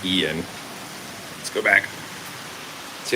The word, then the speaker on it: Ian: hurricane I am Ian I always pronounce it wrong because you know it's Ian I keep saying iron and not Ian let's go back see